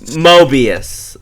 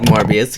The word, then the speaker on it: Mobius: he's he it's Moby's Mobius uh m-o-b-i-u-s M Mobius m-o-b-i-u-s oh it's not pronounced like morbius he's not related I'm